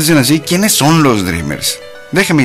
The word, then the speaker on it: dreamers: así Quiénes son los dreamers déjeme y le comento Pues resulta ser que los dreamers o sea se escribe dreamers pero se pronuncia dreamers Ay qué loco bueno